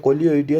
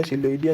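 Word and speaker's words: Coleoidea: सो इसका प्रोनाउंसिंग यहाँ पे है वो करेक्ट कर लेना, कोलियोइडिया इसको है वो, इसका प्रोनाउंस करते हैं कोलियोइडिया, सिलोइडिया नहीं, कोलियोइडिया।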